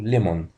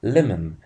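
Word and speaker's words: lemon: كده كلمه ناس كتير بتنته غلط للاسف ويقولوا ليمون لا النقط الصحيح بتاع الكلمه دي اسمه ليمن ليمن مش ليمون الاو اللي في الاخر دي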